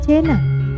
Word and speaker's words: Cina: Pusat-pusat penting di wilayah ini adalah Luwu dan Kerajaan Cina, diucapkan Cena, tapi identik dalam pengucapan bahasa Indonesia ke Cina, yang terletak di lembah Cenrana bagian barat, dengan pusat istananya di dekat dusun Sarapao di distrik Pamanang.